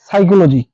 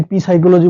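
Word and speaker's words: psychology: এর পরে এস থাকে এটা হচ্ছে সাইকোলজি সাইকোলজি এটাকে আমরা যদি পি সাইকোলজি বলি কিংবা পি সাইকোলজি বলি সেক্ষেত্রে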